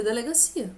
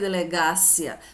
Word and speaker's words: delegacia: Você lê delegacia. Você não lê delegácia.